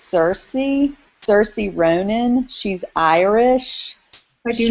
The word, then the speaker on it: Saoirse: I think it's Saoirse Ronan.